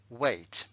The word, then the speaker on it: weight: height se pronuncia I sin embargo peso se pronuncia a weight y el verbo pues hombre si de he